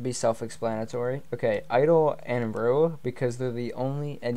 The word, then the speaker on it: Ryu: Now, I know it's been said Ryu many times, but apparently it's supposed to be said Rue. I'm not sure if it depends on the location, but understand that I'm not saying it wrong.